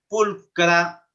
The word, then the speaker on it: pulchra: 5 en latín walker ch como walker pulcra fulcrum se pronunciaría así walker pulcra fulcrum masculino